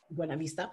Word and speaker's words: Buena Vista: Well, I just mentioned this, but Trans Rockies 6-day stage race in Colorado starts in Buena Vista, which that's an awful pronunciation, but that's what they say. Buena Vista, and ends in Beaver Creek, 120 miles, 20,000 feet of vert.